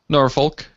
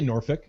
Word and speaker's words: Norfolk: uh uh it doesn't you don't pronounce the L but in my defense